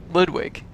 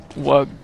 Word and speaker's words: Ludwig: Ludwig. Ludwig. Ludwig. There. Ludwig. I kept saying Wug.